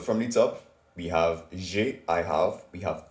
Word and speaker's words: j'ai: So for the first one, it's j'ai, J apostrophe AI.